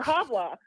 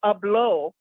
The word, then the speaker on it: hablo: you said hablo or habla. It's not habla, okay? You don't pronounce the A's. But if you're gonna say I don't speak Spanish, it's yo hablo español. Yo no hablo español.